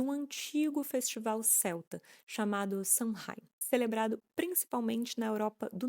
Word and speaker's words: Samhain: antigo festival celta chamado Shahi, celebrado principalmente na Europa do Norte. A pronúncia correta é sen ou alguma coisa bem perto disso. Vou pedir licença para vocês para continuar pronunciando Sunheim, porque nós como brasileiros